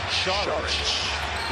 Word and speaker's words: Šarić: Saric switches on to Harden, or if you're Croatian, it's pronounced Šarić.